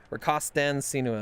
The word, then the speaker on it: rakastan sinua: Rakastan Sinua.